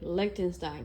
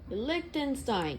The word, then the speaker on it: Lichtenstein: Lichtenstein. It sounds like a supervillain. To me it does, at least. A fun way to remember his name is it rhymes with Einstein and also Frankenstein.